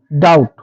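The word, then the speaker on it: doubt: date মানে হচ্ছে ঋণ ডাউট ডি ইউ টি ডাউট ডাউটের উচ্চারণ যদি ডাউট করি দেখুন সেক্ষেত্রে কিন্তু এটা আমরা ভুল উচ্চারণ করবো এর উচ্চারণ হবে ডাউট ডাউট মানে হচ্ছে কাউকে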